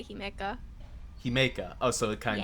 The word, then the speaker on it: Himeika: joining me today is Himeika. Hi, Did I get the pronunciation right? Uh, kind of. I mean, you did technically do it right. I usually just say Himeka.